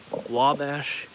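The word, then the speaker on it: Ouabache: This is called a Wabash State Park in Indiana. It's actually spelled the French way. It's spelled, I believe, Q-U-A-B-A-C-H, something like that.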